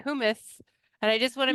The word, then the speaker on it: hummus: She's the co-owner of Hummuna Hummus, making hummus in Idaho.